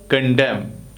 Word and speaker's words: condemn: Next word कंडेम। कंडेम के spelling में N silent है।